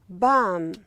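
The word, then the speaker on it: palm: And we have here bam. L is silent. Bam.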